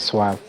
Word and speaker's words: suave: to understand that there's there's a Latin pronunciation and a French pronunciation of that word suave.